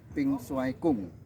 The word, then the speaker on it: Ping Shuai Kun: diperkenalkan dengan kelompok kesehatan pink gong itu tulisannya tapi membacanya pingung kemudian setelah saya diperkenalkan